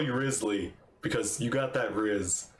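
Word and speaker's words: Wriothesley: it just like risely like it was pronounced so you don't get it wrong this is how you say his name okay Risley I'm gonna call you rizley because you got that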